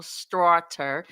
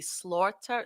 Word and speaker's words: Straughter: So, when I first met you, I my eyes tried to make your last name be Slaughter.